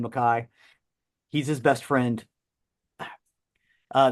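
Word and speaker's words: MacKaye: Jeff Nelson um and I keep saying maai it's spelled McKay Henry Rollins calls him Ian maai so I'm going to call him Ian McKai he's his best friend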